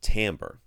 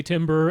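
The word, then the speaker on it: timbre: on Facebook why is t IM BR e pronounced tamper because it's dumb English languages the French its French Dom so it is I mean I've heard people say timber and that's fine I've said as a timber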